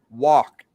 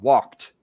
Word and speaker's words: walked: should never write like this this is only pronunciation we say walked with a t sound walked walked i'm not here i walked i walked